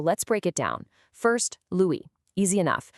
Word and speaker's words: Louis: First, Louis. Easy enough. The S is silent, so it's just Louis.